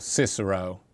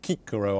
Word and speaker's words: Cicero: people like Aristotle or Cicero or kikaro I believe you're supposed to pronounce his name uh who was a